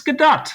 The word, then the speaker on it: Gadot: the the book or the play Waiting for GDAU as sort of a uh a pun, a play on her often mispronounced last name, but it's GDA.